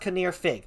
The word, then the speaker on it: Kinnear Fig: Yes, Fig is how you can pronounce his name. That Kanrir Fug. It's pronounced Kinnear Fig. That's why I call him Fig. Just a simple F-I-G. Fig.